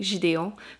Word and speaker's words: Gideon: gideon tonight which see i finally learned how to pronounce it in english i kept saying it in french to be fair it sounds very fancy in french by saying gideon but yeah uh that